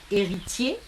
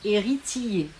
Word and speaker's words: héritier: La diérèse, c'est le fait de prononcer en 2 syllabes ce que l'on peut prononcer en une, et il faut qu'il y ait le son ie dedans. Lion ou lion, héritier ou héritier.